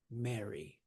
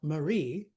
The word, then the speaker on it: Mary: Where's the syllable? Where's the stress? Mary. It's not Marie. That's a different one. Mary. Mary, the stress is on the first syllable.